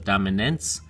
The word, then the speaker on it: dominance: for these familiar words, it turns into a soft A, so it's dominance.